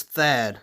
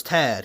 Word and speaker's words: Thad: Apparently this is Thad Moffitt. That's how I heard it pronounced by, like, someone at Lionel. I don't remember who. But I thought it was Tad, because I thought, like, the H was silent.